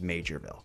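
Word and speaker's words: Maugerville: that it's spelled like maville but it's actually pronounced majorv I I'll give in and I'll call it majorv today um but we got an update regarding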